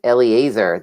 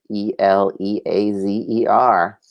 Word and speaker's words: Eliezer: experiences and every yes your ancestor is Eliezer that's how you pronounce that name ele a zer now any questions for